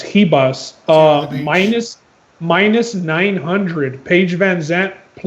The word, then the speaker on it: Ribas: The biggest favorite on the card, Amanda Ribas, because she's Brazilian, I believe, so you don't pronounce the R. It's Ribas.